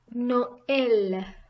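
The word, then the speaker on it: Noël: next comes klaxon tama two small dots on top now this is used when there are two words together and both need to be pronounced example Noel Christmas I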